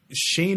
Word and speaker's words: Shayn: gonna follow me it's at Shea Entertainment but Shane is spelled SH a yn when you type in